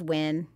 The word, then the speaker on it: Nguyen: The cast Nguyen. Includes... Huh? Like the NG, it's Win. The middle. Win? Yeah. It's a Win.